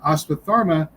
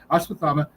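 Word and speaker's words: Ashwatthama: And Asparma took I'm adding the R just sorry there is no R in there. It's spelled without an R. Aspathama uh took great interest in the formation and use of the Ostras.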